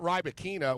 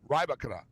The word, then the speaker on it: Rybakina: Okay, it's not Rybakina. What is it? Rybakina. What was it? Rybakina. No, Rybakina. Whatever. Like so. We've been always saying it wrong.